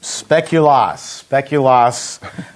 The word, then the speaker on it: Speculoos: It's called Speculoos cookie butter ice cream.